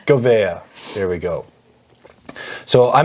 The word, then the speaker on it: Gouveia: Gouveia. Gouveia, there we go.